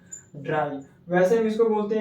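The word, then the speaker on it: drei: जैसे इसको हम बोलते हैं इंडिया में थ्री बट जर्मन के लोग इसको बोलते हैं ड्राई। क्या बोलते हैं? ड्राई।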